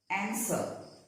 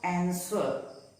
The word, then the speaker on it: answer: Some random words where the W is silent. Answer. It is not answer, but it is pronounced as answer.